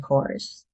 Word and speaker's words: corps: cores. The P and S are silent, so it's pronounced core. Example, he joined the Marine Corps after leaving high school.